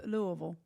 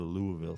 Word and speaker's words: Louisville: Louisville Slugger not a Louisville okay say it again Louisville Louisville Louisville but what about the S it's it's you don't pronounce it okay pause it it's